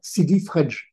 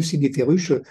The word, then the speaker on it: Sidi Fredj: préconisé un débarquement à Sidi Fredj, qui est devenu Sidi Ferruche, prononciation française.